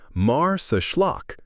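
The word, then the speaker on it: Marsaxlokk: Welcome to Mars Schllock, pronounced Mars Schllock, Malta's most Instagrammable village and a living postcard of Mediterranean charm.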